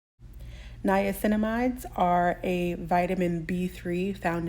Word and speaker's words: niacinamide: this is how you actually say the word niacinamide niacinamide are a vitamin B3 found in food and